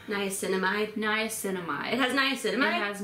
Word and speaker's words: niacinamide: Niacinamide.